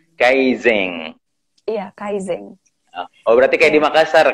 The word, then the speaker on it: Kaizen: Monggo Iya jadi sedikit Mungkin cara pengucapan tewas itu namanya Kaizen Kaizen Kaizen Kaizen Oke jadi itu dibacanya ng kalau di Jepang kaiseng Iya Kaizen berarti di